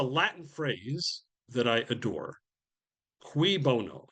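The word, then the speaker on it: cui bono: Qui bono. Cui in Latin. CUI is pronounced qui bono translation for whose benefit?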